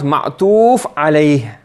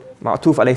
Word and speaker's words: معطوف عليه: The first word is called Ma'tufun alayhi. What's it called? And you pronounce Ma'tuf alayh. Ma'tuf alayh.